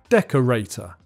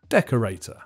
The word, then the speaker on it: decorator: this time is simple the main stress is on the first syllable and there's a secondary stress on the third syllable decorator decorator number eight is what